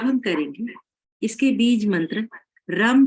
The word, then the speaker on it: रम: अब हम करेंगे इसके बीज मंत्र रम का उच्चारण। रा को छोटा बोलेंगे, अम को लंबा बोलेंगे और इस माँ के